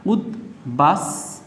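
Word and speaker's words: উদ্বাস: এস এর মত উচ্চারিত হচ্ছে তাই দন্তস হবে উদবাস তু তৈয় রসু আচ্ছা এখানে কি রয়েছে দর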